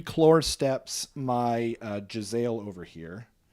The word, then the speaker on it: Khorne: It's pronounced claw.